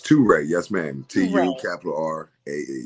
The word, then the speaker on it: TuRae: All right, TuRae, which is spelled T-U. That's a capital R-A-E. It's TuRae, yes, ma'am.